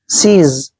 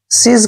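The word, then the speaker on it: seize: जेड को ज पढ़ना है और लास्ट में जब इ आता है उसका उच्चारण नहीं करते हैं। सीज सीज का मतलब होता है जप्त करना या किसी पर कब्जा करना।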